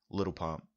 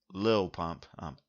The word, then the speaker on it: Lil Pump: I would literally have never heard or seen Little Pump. Um, or excuse me, I actually pronounced little. I shouldn't say. I'm sorry. Excuse me, Lil Pump.